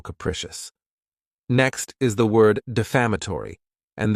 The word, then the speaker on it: defamatory: Next is the word defamatory, and this word has 5 syllables, and the stress is on that second syllable.